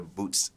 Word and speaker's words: Boot$: now what is the correct way to pronounce your stage name uh boots says b o o t Doan it's like